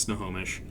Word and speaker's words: Snohomish: those of you outside of washington it is pronounced snohomish found that the wassel was based on the